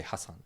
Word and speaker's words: Hasan: be too rude, but it's actually pronounced Hassan. It's not Hassan, it's Hassan. Oh. It's spelled Hassan. Oh. It looks like Hassan, but you pronounce it Hassan.